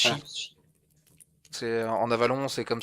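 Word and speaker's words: Sidhe: Seed, la Ban Seed, mais ça se prononce Seed, ça se prononce Ah, Shi.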